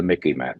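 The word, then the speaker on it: MICIMATT: what I call the Mickey Matt. Let me just reiterate that. This is in the dictionary now. The Mickey Mat rhymes with the Mickey Mouse a little bit so you can remember Mickey Matt.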